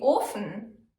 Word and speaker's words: Ofen: Viertens, O wie Ofen. O can be pronounced long, O as in Ofen, or short, O as in Ofen. These particular words are almost identical, but Ofen means furnace and Ofen means open.